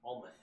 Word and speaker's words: Almeth: A-L, because I was like thinking alms. Almeth.